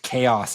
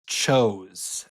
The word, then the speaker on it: chaos: I still have a friend who she pronounced chaos as chose.